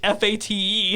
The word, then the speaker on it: Fate of the Furious: No, it is not phonetic. It is the actual word Fate of the Furious.